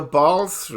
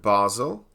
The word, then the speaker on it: Basel: Today is Sunday the 24th of March 2019 and we are discussing the Basel III. Germans pronounce it Basel and some Americans pronounce it Basel, but generally it's known as Basel III and its potential impact on gold.